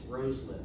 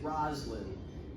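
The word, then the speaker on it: Rosalynn: And yes, that's how you pronounce it. It's Roslin. We were told to get very emphatically down there. Anytime you hear somebody say Roslin, they are very wrong.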